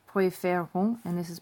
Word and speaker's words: préférons: And you have that accent flip here, which is why this is pronounced préférons and this is préfère.